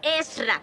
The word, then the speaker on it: Ezra: ¿No sabes que me llamo Ezra? Son dos sílabas. Ezra.